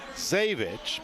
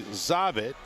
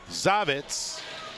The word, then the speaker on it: Zavitz: It was requested for the correct pronunciation for Keaton Zavich, but it's actually Zavit is the correct pronunciation. I was misinformed, and now Mr. Zavitz will get his due.